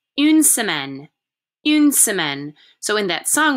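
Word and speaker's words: une semaine: a day is anger anger a week is pronounced unsemen in so in that song we just listened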